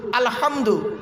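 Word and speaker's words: الحمد: ওখানে আলহামদুলিল্লাহি রাব্বিল আলামিন আলহামদু আলহামদু হে গলার ভেতর থেকে হে এটা উচ্চারণ করবেন আলহামদুলিল্লাহি রাব্বিল আলামিন এর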